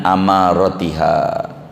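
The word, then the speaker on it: أماراتها: Akhbirni an amaratiha. Dibacanya hamzahnya fathah, amar. Maknanya alamat, ciri-ciri.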